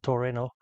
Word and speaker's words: Torino: there on the day it's a Torino or in Japan they pronounce it Toreno uh which basically means